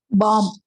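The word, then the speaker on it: bomb: easy இது எப்படி படிக்கிறது பாம் பாம் வெடிகுண்டு அந்த பி வந்து சைலெண்ட் ஓகே அடுத்தது எப்படி படிப்பீங்க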